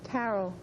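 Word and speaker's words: Carole: Carol. Oh, say that again. Carol. Kind is silent, right? Just like Carol, but the E is silent.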